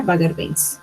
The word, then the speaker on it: Bagger Vance: Se pronuncia Bagger Vance.